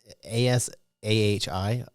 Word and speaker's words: Asahi: ASAHI. It's like acai, but it's not how acai is spelled.